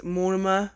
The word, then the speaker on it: monomer: milliliter ball of momma i say muammar wrong i know i say it wrong i know it's monomer or whatever it is but i say more like more goth off the sims i don't know why i just can't say it properly okay so we're gonna